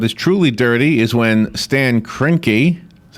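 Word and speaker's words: Stan Kroenke: of sports what is truly dirty is when Stan kinky is how you say his name what he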